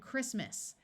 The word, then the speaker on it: Christmas: the t is pronounced and Christmas notice that the CH takes its second sound of C in this word most words with a